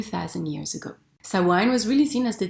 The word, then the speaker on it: Samhain: back to Celtic Ireland 2 000 years ago Sawan was really seen as the division of the